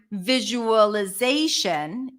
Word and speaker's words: visualization: on the first syllable in the word visualization the stress shifts to Z visualization so when you have the shun suffix the stress is always one syllable before ation visualization visualize visualization that's